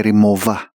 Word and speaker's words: Rimowa: Tunay ang free repair ng Remoa. Ang bigkas ng mga Germans sa German brand na ito ay remova.